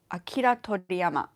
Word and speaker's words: Akira Toriyama: Akira Toriyama. I believe that's pronounced correctly.